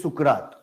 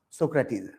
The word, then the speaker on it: Socrates: Hindi में बोलते Sukrat, right? But in English, we pronounce Socrates.